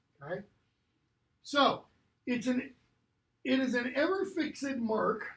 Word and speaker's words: fixed: So, it is an ever-fixed mark. Notice the little accent, because you have to pronounce that final syllable.